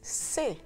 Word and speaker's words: c'est: C'est un petit verre de bière. C'est un petit verre de bière. It is a small glass of beer. It is c'est, with a silent T.